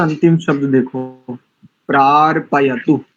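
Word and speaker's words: प्रार्पयतु: का अंतिम शब्द देखो प्रार पयत पार नहीं बोलेंगे इसको प्र प्रार पय पपय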